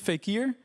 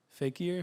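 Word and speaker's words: Fekher: wrong way but it's I believe fakeer fakeer Nei Nei yeah so f e k h e r fake ear fake Air not available so we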